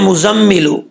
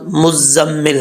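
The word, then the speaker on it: مُزَّمِّل: مزمل آ رہا ہے، لیکن عربی کا لفظ وہ لفظ مزمل ہے، ٹھیک ہے۔ تو کیسے پڑھیں گے اس کو؟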